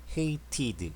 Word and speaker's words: hated: hate의 t로 발음되니까 hated, ed 발음 되죠.